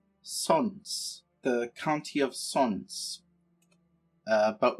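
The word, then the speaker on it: Sącz: to take the chieftain of it looks like sucks but it's actually pronounced sons the county of sons but we can't do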